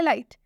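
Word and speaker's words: light: जब भी GH और टी लास्ट में आता है तो इसमें G और H साइलेंट होता है, सिर्फ टी का प्रोनाउंसिएशन हम करते हैं, ठीक है।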